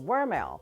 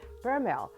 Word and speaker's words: Vermelle: So they give the V a W pronunciation, Vermelle. And sometimes the older folks would give it a B pronunciation, Vermelle.